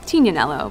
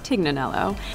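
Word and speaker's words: Tignanello: website called the teak the name the tig comes from a wine called tina nello but oftentimes it's mispronounced Dignan ello where she wrote about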